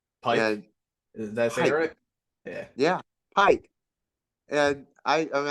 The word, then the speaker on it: Pike: is that yeah yeah Pike and I I me I get called and and PK and it's like no I'm not Spanish I'm German it's p you know but I